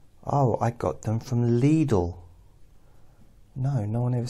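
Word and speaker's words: Lidl: I got them from leadle no no one ever said that they said little little little cuz that's how it's spelled and that's how we pronounced it but little or leadle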